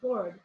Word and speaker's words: Gordes: And this first chapter is called Gordes. It's spelled Gordes.